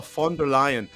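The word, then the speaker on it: von der Leyen: Uh f the V's are like Fs Hugh. So it's uh Ursula Fonder Lion and she was formerly uh in the German government and now she's here.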